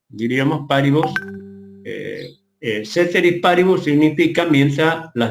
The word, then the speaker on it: paribus: Ceteris se escribe con C, paribus, terminado en bus, omnibus, diríamos paribus.